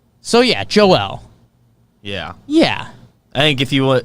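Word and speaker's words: Joël: it but it's joelle it's not joel yeah right joel embiid sure he's not american so joel embiid anyways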